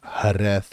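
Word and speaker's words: Jerez: j r e z looks like gz it's harth is how it's pronounced typically has a very sunny high UV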